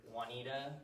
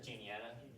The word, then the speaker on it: Juniata: referee to decide whether Juanita or Hastings would become the capital of Adams County, or Juniata. Juniata's how you pronounce that one.